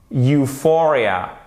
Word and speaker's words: euphoria: Euphoria, on va bien plus de l'avant pour le U, même si c'est pas lui qui est accentué. L'accentuation, elle se fait sur notre deuxième syllabe. Euphoria, euphoria, Europe, ok?